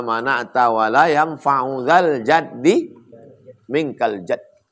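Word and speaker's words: جد: Allahumma la mani'a lima a'taita wa la mu'tiya lima mana'ta wa la yanfa'u dzal jaddi minkal jadd. Man jadda bi fathil jim. Cara membacanya jimnya baris fathah.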